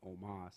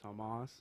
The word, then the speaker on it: Tomas: say my name right they were saying Omas instead of Tomas hey I like Omas